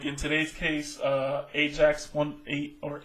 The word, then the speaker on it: Ajax: Like in today's case, Ajax or Ajax as it's pronounced, won the first game 1-0 in Tottenham.